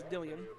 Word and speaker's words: Dillian: I've been saying Dylan all night. It's Dillian.